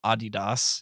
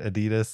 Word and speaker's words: Adidas: is that just because we started saying it Adidas and so everybody accepted it yeah I mean I I think that's a more uh correct way that Americans emphasize syllables right Adidas same thing with Hyundai